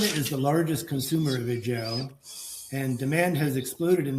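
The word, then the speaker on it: ejiao: used for the production of a substance called a jou. It's it's spelled e j i ao.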